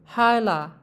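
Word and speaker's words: hâlâ: Huruf A ini dibaca lebih halus. Contohnya, hala, yang artinya bibi. Dibaca seperti biasa, hala, bibi. Dan ada lagi hala, lebih lembut dia. Hala, yang berarti masih.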